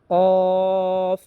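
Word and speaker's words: ق: যেমন ফা ফা কফ কফ উচ্চারণ হবে চার নাম্বার মাখরাজ থেকে।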